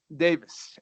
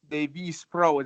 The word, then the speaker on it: Deivyspro: That would be Davis, and if you want to say it like that, then it would be Deivyspro, is the way that we intended it.